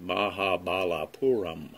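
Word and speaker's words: Mahabalipuram: where there is an ancient temple complex called mahabalapuram pronounced mahabalapuram it was built by the same ancient civilization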